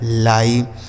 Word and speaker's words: lie: मात्रा करते हैं, लेकिन अगर यही आई ई लास्ट में लिखा हो तो इसका उच्चारण आई हो जाएगा, यानी इसको भी आई ही पढ़ेंगे, ठीक है।